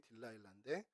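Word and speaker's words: Delilah: 그랬더니 이게 영어식 발음이라고 들릴라의 영어식 발음이 딜라일라 조용남 씨가 번에서 우리나라에서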